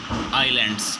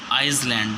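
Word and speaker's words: island: और वह है आपका eye Lens पर यह ऐसे यहां पर साइलेंट होता है ठीक है यहां पर इसको ऐसे नहीं बोलेंगे आईसलैंड शिकायत बैलेंस नहीं होगा राइट्स कमिशन क्या है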